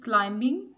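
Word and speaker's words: climbing: Silent letters, Sana is क्लाइंबिंग इन the mountain, इसमें B silent letter है।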